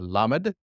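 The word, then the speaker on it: למד: Now we're into the element, the lamed. Lamed, which makes what sound? La.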